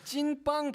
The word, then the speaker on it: 찐빵: 특히 찐빵은 이 더블이 2개 들어가가지고 맞아요. 좀 힘을 줘야 돼.